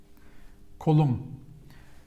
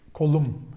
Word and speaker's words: kolum: Kolum. Kolum. Remember? Kolum. Like my. Benim kolum. Kolum. But the intonation, the stress is here in the second syllable.